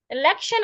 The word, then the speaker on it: election: the word election elction election also has three syllables and it ends in i o n so I should stress the syllable before the t i o n election so for you to